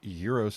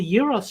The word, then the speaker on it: gyros: pronounced them right too i think euros is the proper way if you look at